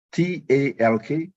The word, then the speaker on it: talk: Jadi pronunciation-nya building, talking, T-A-L-K, talking. L-nya itu senyap. L, senyap ya. Alright, so dalam prakteknya coba nanti ingat ya, jangan lupa kalau bilang talk bukan talk. Talk.